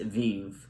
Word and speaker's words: Vivre: And the song was originally titled Vivre. I actually did look up the pronunciation of the word, and it's pronounced Vive.